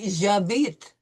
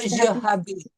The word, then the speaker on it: habite: We have an H that we do not sound so it's going to be J'habite. Not J'habite.